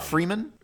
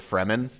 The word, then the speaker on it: Fremen: You pronounce it Freeman? Fremen. Okay.